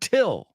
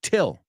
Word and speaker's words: till: so the first word till say it with me really important in this section that you repeat after me till till okay comes from until it's till till till rhymes with still not a are you